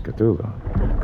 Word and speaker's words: Cthulhu: Cthulhu. Correct. Cthulhu actual.